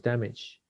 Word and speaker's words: damage: The hurt car was damaged. Damaged. Ok, tengo curiosidad de esa. Vamos a ver el diccionario de pronunciación. Chulo Mirta. Damage. Es que no es ch, es j.